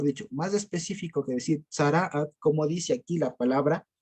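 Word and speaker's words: צרעת: Se pronuncia así, tzaraat. O aún más, mejor dicho, más específico que decir tzaraat, como dice aquí la palabra, si ustedes se dan cuenta, dice, traducen así, llaga de lepra.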